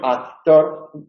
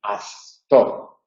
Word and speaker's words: actor: Sin embargo, en actor, al relajarse, las cuerdas vocales funcionan. Bien, en esos casos lo que hay que evitar es que la relajación nos lleve a pronunciar una interdental, a decir astor, astor.